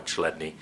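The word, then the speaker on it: Chladni: it up on YouTube it's spelled c h l a d n i chadney and many videos there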